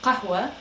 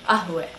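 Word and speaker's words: قهوة: The first word, in terms of letter changes that we gave as an example, was qahwa. That is the modern standard Arabic pronunciation. A lot of times you will hear it changed to ahwe. So the qaf, the Q sounding letter, will change to a hamza, which is more of just a stop.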